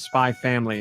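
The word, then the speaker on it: Spy × Family: spy the series is spy family the main we don't pronounce the X and this is based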